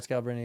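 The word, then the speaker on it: Scalabrine: Brian Scalabrini.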